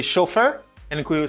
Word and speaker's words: chauffeur: chauffeur driver or chauffeur in english you say chauffeur and we will say